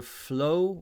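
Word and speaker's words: Fleaux: um i recommend either flow which is spelled f l e a u x which is a sort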